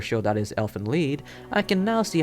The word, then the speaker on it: Lied: incest anime elfant lied it's pronounced lead you [ __